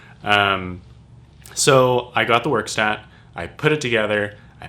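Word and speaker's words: Werkstatt: got was the moog workstat um i say workstat but because in german it's verkstat verstat verkstadt the work stat 01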